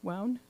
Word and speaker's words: WOWN: Yeah, WOWN rhymes with town and down.